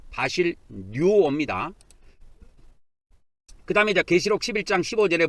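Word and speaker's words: βασιλεύω: 이게 헬라어로 바실류어 좀 발음하기가 좀 쉽지가 않은데 바실 뉴어입니다.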